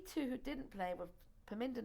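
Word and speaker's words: Parminder: your star um and if you would please pronounce her name for me a piminda nagra paminda okay nagra was she a soccer player all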